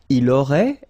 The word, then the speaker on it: il aurait: Il aurait, elle aurait, final T not pronounced.